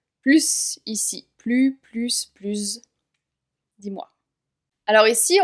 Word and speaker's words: plus: Alors ici, on va prononcer le S de plus comme un Z, car il y a le mot âgé qui suit, qui commence par une voyelle. Il est plus âgé que son frère.